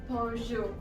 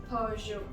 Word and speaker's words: Peugeot: No, it's Peugeot. Peugeot. Now, by my accent, it's quite obvious that it's from France, and we generally say it with that French tinge, so we say Peugeot.